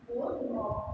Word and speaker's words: doorknob: Then sixth, doorknob. Sorry, doorknob. K-N-O. Again, you do not pronounce K.